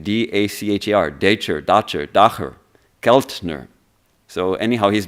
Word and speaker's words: Dacher: And one of them is a psychologist named, I don't know how to pronounce his name, D-A-C-H-E-R, Dacher, Keltner.